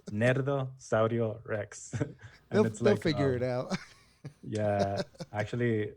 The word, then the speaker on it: Nerdo Saurio Rex: i know that no people always get confused about how you pronounce it they're always like nerdo cereal rex i'm like you say it with a spanish accent nerdo saurio rex figure it out yeah